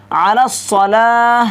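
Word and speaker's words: على الصلاة: হবে কিন্তু কি বলেছে আলাস সালা মে আইন হাজাফ দেনা এই আইনটাকে কি করা হামজাতে পরিণত করা আলাস আইনটাকে পরিপূর্ণ করে আইন করে উচ্চারণ করতে হবে নাকি আলাস আলাস কিন্তু বলা যাবে না এটা কিন্তু আইন দেওয়া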